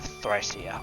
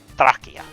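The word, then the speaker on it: Thracia: I don't have Thia. I I could have bought it. I it a cop p of uh I shouldn't call it thia. It's Thrakia. That's how the the Japanese store pronounced it.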